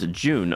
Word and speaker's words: June: And Doctor, it's pronounced June. Oh, okay, and you don't mind if you pronounce it differently. Okay, awesome. Well, I will pronounce it June.